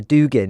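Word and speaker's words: Dugin: recall the name of Alexander Dugan or Duan as is sometimes pronounced the so-called Russian intellectual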